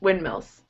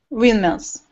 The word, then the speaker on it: windmills: And when you pronounce it quickly, the D actually almost disappears. Windmills. Windmills.